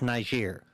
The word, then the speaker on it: Niger: type land isn't it well yes Marshall it's pronounced Niger I didn't say it I I know you